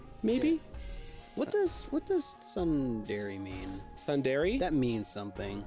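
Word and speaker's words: tsundere: a temmie plane maybe what does what does sun Dairy mean sundairy that means something um that's one of those like yeah yandere Senpai yeah yandere Senpai kawi Kawaii desudesu I let's see uh pronounced sundari Japanese term for character development process that describes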